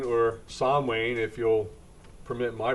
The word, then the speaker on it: Samhain: Bill Moore back with History for My Grandchildren, and we're morphing Samhain, or Samhain, if you'll permit my pronunciation of it, into Halloween.